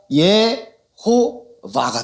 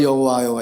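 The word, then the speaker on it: יהוה: 차용을 해서 붙인 거예요 요도 안에다가이 오라는 몸을 넣구요이 오라는 몸을 얻고요 그리고 바보의이 아 발음을 넣었어요 자 그러면 어떻게 됩니까 예호 바가 되는 거예요 해가 단어의 끝에 나올 때는 발음을 하지 않아요 예호바 예호바 그래서이 허브가 미국으로 들어가서는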